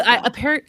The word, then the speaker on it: bruh: Well, Bruh. apparently I say it wrong when I repeat it and say, don't call me bro. And she's like, it's not bro, it's bruh or whatever.